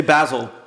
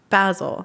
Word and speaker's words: Basel: I'm not even gonna say it no say basil basil there you go art basil there you go